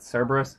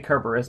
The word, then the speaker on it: Cerberus: I'm aware that most people pronounce it Cerberus, but in Greek it's spelled with a kappa, not a sigma.